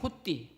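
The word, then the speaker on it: ὅτι: 호띠, 발음상 호띠인데 영어로 번역을 하면은 because 왜냐하면, 이런 뜻이 되죠.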